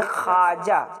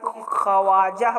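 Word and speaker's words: خواجہ: वाव अलिफ जीम हा, तो होना तो ये चाहिए था कि इसको हम खवाजा पढ़े, लेकिन ऐसा नहीं होता है क्योंकि ये वाव साइलेंट होता है, ये वाव को गिरा दिया जाता है और वाव गिरा करके अलिफ के साथ हम पढ़ते खाजा।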